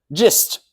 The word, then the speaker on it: gist: So the hard G is in guess and the soft G is in gist.